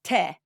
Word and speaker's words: tea: actually pronounced as T to begin with rhyming with day and we know that